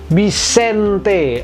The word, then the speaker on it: Bixente: teori harusnya big short harusnya bigsound zazu tapi dibacanya bukan begitu melainkan bis ente Eni berbunyi n&e di ujung dari si bixente